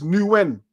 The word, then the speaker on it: Nguyen: Man gave us the pronunciation. It's Nguyen.